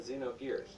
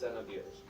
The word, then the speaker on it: Xenogears: Many people, myself included, thought the name of the game was pronounced with the letter ZE, as in Xenogears. However, the original trailer dictates it's pronounced Xenogears.